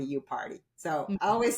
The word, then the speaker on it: Yupari: Um my last name is spelled like yu p a r i and it is pronounced like I party, you party.